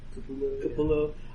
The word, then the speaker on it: Capullo: I can remember when Greg Capello was a new guy. Did I pronounce his name right? Yeah. Capullo.